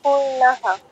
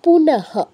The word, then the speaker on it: পুনঃ: হ এর উচ্চারণ হয় আসবে পূর্ণ হ এর উচ্চারণ পূর্ণহ আচ্ছা পূর্ণহ নয় পুনহ র টা আসবে না তুমি একটা র আনছো